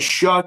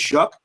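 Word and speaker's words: Shough: Lemon drafting pronounced sounds like Shuck to me, but it's Shuck.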